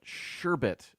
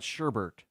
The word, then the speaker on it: sherbet: Sherbet, not sherbert. There's only one R in the word.